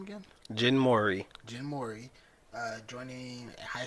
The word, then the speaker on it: Jin Mori: Jin Mori.